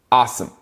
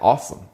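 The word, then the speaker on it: Asim: a s i m his name is a-s-i-m but it's pronounced awesome like awesome so awesome Richards is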